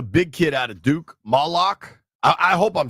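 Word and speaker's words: Maluach: Brian, how you pronounce the big dude name from Duke? Malawak.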